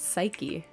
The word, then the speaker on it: psyche: same page today sweet psyche is two syllables psyche I you know what